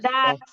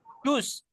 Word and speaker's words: does: Das. Das. Das. Jadi pakainya pakai das. Iya, guys. Does. Tulisannya does. Bacanya nggak boleh dus. Does, tapi bacanya das.